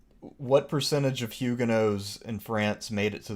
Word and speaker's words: Huguenot: American pronunciation is Huguenot, so I generally go with that. But oh, the British and Huguenot, I think, is the right way to go with it. But I stand by Huguenot.